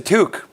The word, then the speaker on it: toque: That's a toque. Is it really? One syllable. Toque.